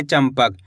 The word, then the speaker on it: चंपक: तो यहां पे अपन आधा म का उच्चारण निकालेंगे। चंपक।